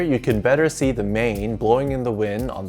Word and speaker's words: 马: traditional character here you can better see the mane blowing in the wind on the top and